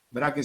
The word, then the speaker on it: Braque: Braque se escribe B-R-A-Q de queso U-E, Braque.